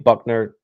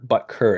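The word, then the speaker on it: Butker: he's on the Chiefs or bucker bucker is how you say it my bad uh but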